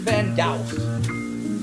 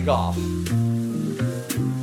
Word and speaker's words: Van Gogh: Ooh, Salvador Dali or Vincent van Gogh? Or would that be Goff? Or Guff? There's a lot of ways you can pronounce that O-U-G-H that's incorrectly spelled for Van Gogh.